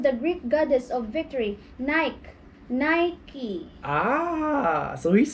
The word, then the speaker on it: Nike: Yeah, in Ireland and England, we call Nike the same as Philippines.